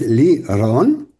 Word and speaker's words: Lirón: Y el nombre eh unisex, que en español tiene un sentido, pero en hebreo tiene otro, es lirón, que realmente es lirón, con esa r un poquito más pronunciada porque se refiere a que yo tengo un cántico.